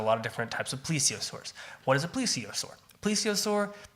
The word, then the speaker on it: plesiosaur: wrote it down how it's supposed to be pronounced cuz I couldn't read that a plesiosaur okay or yes that's right please save us